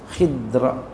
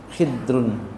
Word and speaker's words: Khidr: setelahnya setelah diajarkan itual KH ini bacanya Boleh khir boleh bacanya khidra khidrun Boleh bacanya khadrun Ya secah kita kita biasa bilangnya Khidir Nabi Khidir ya Iya